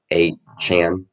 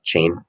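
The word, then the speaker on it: Achane: chain I think he wants us to pronounce his name a Chan not chain I don't know why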